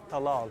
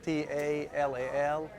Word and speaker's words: Talal: First name Talal, T-A-L-A-L, and last name Alami, A-L-A-M-E. Kind of like a little town Talala with that A, Talal.